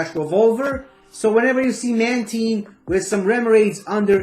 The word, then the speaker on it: Mantine: It's Mantine, which comes from Manta and Marine. It's not Mantine, whatever you might think about it.